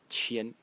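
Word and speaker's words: 千: way, this is 1000, pronounced as qian in the first tone, qian, 1000, consists of two elements again.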